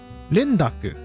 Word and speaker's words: rendaku: Okay, so the term is a rendaku, which I couldn't think of earlier, is how some terms are altered to make the pronunciation a bit more flowy. It's essentially a phenomenon in Japanese which causes the pronunciation of the non-initial word in a compound to change, and sometimes there are exceptions to that rule.